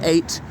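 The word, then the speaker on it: ait: on the temps sometimes spell a i t an eight pronounced just like um number eight what else should I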